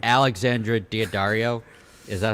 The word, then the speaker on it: Daddario: Just like on the shoulders, and they're pointing like Alexandra Daddario, is that how you say her name? Daddario. It's like the Daddario. strings. Daddario.